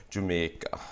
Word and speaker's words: Jamaica: Okay, this consonant of the EI is actually one of the distinct features of Jamaican Patois, because, for example, in Trinidadian English Creole, they'll pronounce it like A, like that. So Jamaica, like that, as opposed to Jamaica.